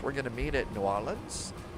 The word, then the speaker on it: New Orleans: going to meet at New Orleans or Nalins as some of the locals say. So, Nollins, we're going to Atlanta and Washington.